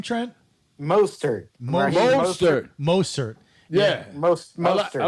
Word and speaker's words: Mostert: Mozart. How do you say his name, Trent? Mostert.